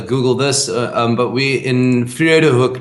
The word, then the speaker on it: Vredehoek: you want to Google this, but we're in Vredehoek right now. I'll spell that for you.